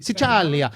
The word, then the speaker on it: Sicilia: Sicilia.